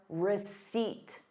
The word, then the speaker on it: receipt: Please keep your receipt. Receipt. There is no P in the word receipt.